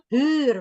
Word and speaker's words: huur: Kalau kita baca tulisan H, ini udah pernah saya lain kali HUUR itu hur, sewa, hur. Dibacanya ditulisnya 2 hur.